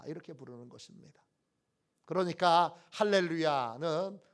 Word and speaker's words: 할렐루야: 그러니까 할렐루야는 어떻게 발음해야 되느냐 하면 할렐루야, 이렇게 발음해야 합니다. 할렐루야, 할랄야입니다.